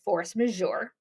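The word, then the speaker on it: force majeure: you force mour that's how this word is pronounced force majour force majour is situations outside of one's control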